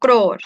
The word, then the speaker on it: growth: And this one, growth, also O sound but low tone. Growth. You can drop R here if you want. Growth, growth. Yeah, but I'm a teacher, supposed to say it right.